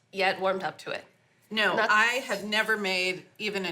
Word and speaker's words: gnocchi: excited no I don't honestly how do you pronounce noi noi noi okay and the recipe we're going to